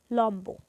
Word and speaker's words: লম্ব: উচ্চারিত হলো এরপর হচ্ছে লম্ব এখানে শব্দের শেষ বর্ণ হচ্ছে ম এর সঙ্গে ব যুক্ত আছে যেহেতু শেষে ব ফলা আছে তাই এর উচ্চারণ বজায় থাকবে সেক্ষেত্রে এর উচ্চারণ হবে লম্ব উৎ উপসর্গের সঙ্গে বফলা